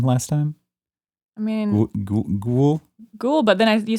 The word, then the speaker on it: Goyle: How did you pronounce Goyle's name last time? I mean, Ghoul.